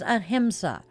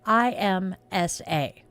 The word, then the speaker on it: ahimsa: And our word is ahimsa. It's spelled Ahimsa.